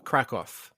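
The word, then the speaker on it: Kraków: now where is krakow krakoff i said that wrong no it's okay i think that's actually like the common english pronunciation so that's good um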